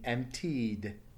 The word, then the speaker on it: emptied: The next word is empty, with the past tense being emptied. Emptied. Notice it's a vowel sound at the end. Emptied with a vibration. So then it takes a D sound.